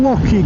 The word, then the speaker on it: Lochy: This is Glen Lochy, guys, that we're in now. Or Lochy. Lochy? However you pronounce it. You've got to pronounce it like you're clearing your throat, apparently.